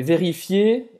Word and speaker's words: vérifier: E vérifier, ER tem o som do E. Vérifier, não pronunciar o R.